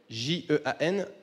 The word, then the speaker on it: Jean: Pour vous présenter Jean, alors, ça s'écrit Jean, J-E-A-N, mais au Brésil, ça se prononce Jean.